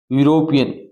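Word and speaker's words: European: का ही इज यूरोपियन अब देखो भाई यूरोपियन यू पहले पहला जो लेटर उसकी साउंड क्या आ रही है अभी यू यूरोपियन unit unique union university अब पहला लेटर इ है यहां पर क्या है अभी इ है परंतु साउंड क्या दे रहा है अभी य की दे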